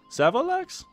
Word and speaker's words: Savolax: Savolax?